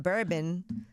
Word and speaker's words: bourbon: nobody's black over there uh they have that bourbon nobody's black how do you say it boo